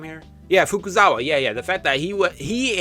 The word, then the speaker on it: Fukuzawa: Fukusawa, right? That's his name. Did it say his name here? Yeah, Fukuzawa.